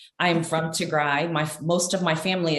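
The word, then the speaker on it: Tigray: berhana musco um and i just want to correct the pronunciation is to gray i am from tigrai my most of my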